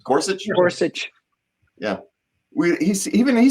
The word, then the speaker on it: Gorsuch: Justice Neil gor gors how do you actually pronounce that name Gorsuch yeah we he even he says we live